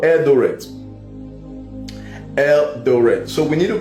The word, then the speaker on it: Eldoret: The pronunciation, is it right? Eldoret.